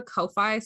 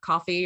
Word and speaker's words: Ko-fi: I also have a Ko-fi, or coffee, or however you want to pronounce it, the digital tip jar thing, which you can find.